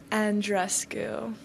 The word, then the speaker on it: Andreescu: sure you have too let's set it straight with the proper way and rescue I think it's time